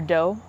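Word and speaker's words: doux: with me so the first one is called does or dough uh it's spelled D o u x and this if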